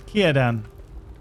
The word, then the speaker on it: Círdan: So we've done talk to Círdan, which is spelt with a C, but it's pronounced with a K. Isn't that right, Lewis? There's Círdan.